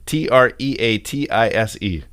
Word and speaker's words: treatise: a treat hey google how do you pronounce the word t-r-e-a-t-i-s-e that's pronounced treatise well i think you